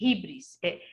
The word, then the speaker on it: hybris: E quando nós ultrapassamos essa medida, nós entramos numa maldição que os gregos chamam de híbris. Como se escreve?